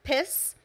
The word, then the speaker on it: PES: brings me to a very serious condition, PES, pronounced piss.